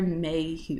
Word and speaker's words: Mayhew: The series follows the 20-year relationship of Emma Morley and Dexter Mayhew.